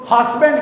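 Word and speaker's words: husband: यहाँ पे ये जो एस है ये जेड की साउंड देगा। ये एस जो है ये कौन सी साउंड देगा? जेड की।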